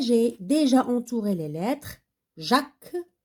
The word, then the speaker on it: Jacques: Jacques, donc le S, ça ne se prononce pas.